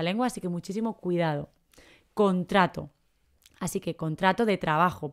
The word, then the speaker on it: contrato: nos referimos a un contrato de trabajo no se pone la letra c antes de la ultimate contracto no es contracto es contrato contrato no contracto cuidado